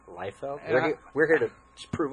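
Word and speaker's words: Liefeld: Rob life yep and his name is leld not leafield it is leld we're we're here to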